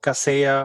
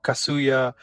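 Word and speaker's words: Kaseya: uh maintenance software called Casa or kasuya uh either one of the pronunciations um they have been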